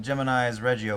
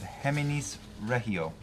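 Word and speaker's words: Geminis Regio: Tony Campos, who goes by looks like Gemini's Reggio, but he gives me the pronunciation of Heminis Regio.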